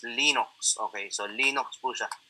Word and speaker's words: Linux: Linux is pronounced Linux.